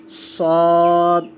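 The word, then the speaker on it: ص: সদ, একটু মোটা হবে উচ্চারণটা, সদ, সদের মেজর পয়েন্ট হচ্ছে এটা, এই জিনিসটা থাকলে আমরা এটাকে সদ বলবো।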